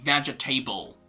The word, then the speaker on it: vegetable: give it a try this is not going to be vegetable as some learners say actually they see vegetable because of the word table at the end table when it's alone so it's not going to be vegetable but rather vegetable right can you say